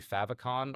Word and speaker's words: favicon: It should pull in the favicon or fav icon, depending on how you say it.